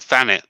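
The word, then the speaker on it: Thanet: all the time so i live in a place called thanit which is th but i pronounce it with an f all right you just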